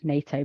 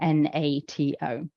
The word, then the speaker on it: NATO: We say it like a word, NATO, but say somebody absolutely was insistent they wanted it to be spoken NATO.